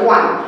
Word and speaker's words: one: Normally ও হলে বাউল আমরা জানি, কিন্তু এখানে ওর উচ্চারণটা কিন্তু আর ওর মতন নেই, ওর উচ্চারণটা কি হয়ে গেছে, ডব্লিউ মতন। তোমরা নিজেরাই বলো ওয়ান, ওয়ান কি আসছে, ডব্লিউ মতন।